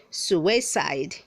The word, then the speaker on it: suicide: Word 376 says suicide, say suicide, don't say suicide. The word has 3 syllables, not 2.